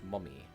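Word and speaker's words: momme: of silk Industries and it's pronounced mummy I want a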